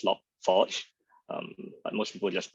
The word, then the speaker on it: Log4j: about log 4j or it should be actually pronounced as log forge but most people just pronounce it as log4j and so what is